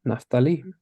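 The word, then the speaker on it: Naphtali: interesting right because I've heard it pronounced a thousand different ways in English everybody pronounces this tribe differently but um taking a look at the Hebrew it's like oh it's pretty clear-cut naftali isn't that fun to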